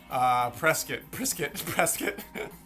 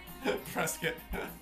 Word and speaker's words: Prescott: It's pronounced like biscuit. There are moose and bears and biscuits. Prescott. Prescott.